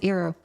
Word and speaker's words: Eero: Let me show you how it's spelled. The Eero routers, sorry, that's Eero.